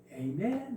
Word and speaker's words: 아멘: 미국에서는 이제 우리는 아멘 그지만은 한국제 발음 체계가 이거는 아멘 에이멘 이렇게 말해요. 에이멘 에이멘 옆에 같이 들어보면 아멘이 아니고 에이멘 이렇게.